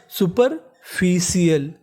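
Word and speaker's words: superficial: इस मीनिंग में भी आपको आर का उच्चारण ऐसे करना है कि सामने वाले इंसान को पता ना चले कि आपने बोला है कि नहीं बोला सुपरफिशियल इसका मतलब सतही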